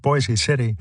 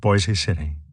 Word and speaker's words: Boise City: and the county seat Boise City should rhyme with voice some residents even wanted